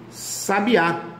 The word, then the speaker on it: sabiá: em ditongo crescente e tem o sabiá sabiá oxítona terminada em a igual sofá sofá né guaraná